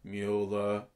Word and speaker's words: Mueller: Well, Mueller, I never know whether to say Mueller or Mueller, but I always say Mueller because it's spelt the same as Ferris Bueller, but with a M.